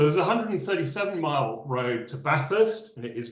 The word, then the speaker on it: Bathurst: So there's a 137-mile road to Bathurst, and it is pronounced Bathurst, not even though it's named after Lord Bathurst.